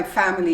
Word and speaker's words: family: the day with my family yesterday you omit the i and you say family family how about traveling